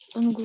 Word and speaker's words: goût: goût, un goût. Видишь, ты не читаешь, ничего, в конце, да, у нас не читаются эти окончания.